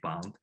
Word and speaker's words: Bund: I shouldn't pronounce it as Bund. I probably should say Bund.